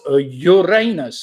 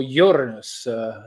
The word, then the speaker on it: Uranus: Number 14 was Uranus or Uranus, depending how you want to pronounce it, depending whether it's British or American pronunciation.